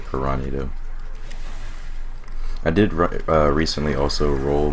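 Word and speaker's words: Piranhado: I always say Pyranado because it's kind of how it's spelled, but I think it's meant to be said Piranado.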